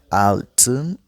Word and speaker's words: altın: Altın, c'est pas comme 6 altı, mais là on ajoute avec le N. Altın.